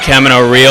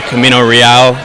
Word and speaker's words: Camino Real: We got to do Camino Real or Camino Real, depending on how you say it.